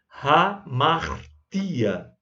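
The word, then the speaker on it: ἁμαρτία: Mas em grego, quando tem um Hzinho desse aí, significa que ele tem um espírito rude, que deve ser pronunciado. Então, hamartia.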